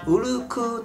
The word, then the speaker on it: 小禄: ね実はエマー沖縄の方言なのでを 6 と歌わずブルークという発音で歌いますうううう dere いい